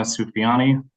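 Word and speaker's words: Soufiani: the record for us my name is Cena sufyani first name is spelled s i n a last name is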